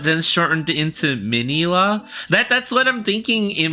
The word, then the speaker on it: Minilla: realize as an adult, they spell his name Minilli, and a lot of people pronounce it Minya, right? Or Manila, right? Yeah, right? But there's a part of my brain that thinks, were they trying to actually call him Minilla? Like Mini Godzilla? But then shortened into Minilla?